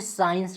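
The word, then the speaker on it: science: सी हो ठीक है एस के बाद यदि सी है तो सी को साइलेंट पढ़ा जाता है साइलेंट मान लिया जाता है उसको नहीं पढ़ा जाता है पढ़ते समय उसका यूज नहीं करते हैं जैसे साइंस का ठीक है एस सी आई ई एन सी ई होता है देखिए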